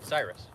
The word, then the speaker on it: Cyrus: Greg Cyrus is a mutual friend of, Cyrus. Okay. Pronounced like Miley's.